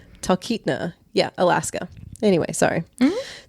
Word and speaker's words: Talkeetna: I even wrote it phonetically. Talkeetna. I think that's what happened. I messed up my phonetic spelling. Talkeetna.